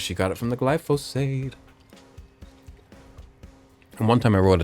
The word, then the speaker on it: glyphosate: Medicaid and thank you glyphosade. Um, and I know it's glyphosate, but to make it rhyme with Medicaid, I did call it glyphosade.